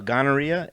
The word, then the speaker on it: gonorrhea: chlamydia media india uh gonorrhea no that's a hard g it's the rhea like diarrhea that's true yeah rg